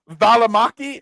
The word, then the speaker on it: Valimaki: Valimaki? Am I anywhere close? Yeah, that's exactly how you say it.